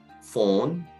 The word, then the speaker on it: phone: 다음 발음은 PH인데요. PH 발음이 쉽게 생각하면 F 발음과 같습니다. 그래서 이제 전화기, phone 이때 발음할 때도 F의 피읍 발음이기 때문에 폰이라고 하지 않고 phone 이렇게 발음하면 좋을 것 같습니다.